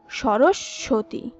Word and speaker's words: সরস্বতী: এরপর আমাদের খুবই পরিচিত শব্দ সরস্বতী, যেটি উচ্চারণে আমি নিজেও আগে ভুল করতাম, এর সঠিক উচ্চারণ হবে সরস্বতী।